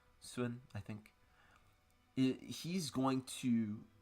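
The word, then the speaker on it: Sun: really I mean Justin swoon soon is how you say it in Chinese soon I think he's going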